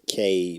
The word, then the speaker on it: Cabe: Bro, It's Cabe.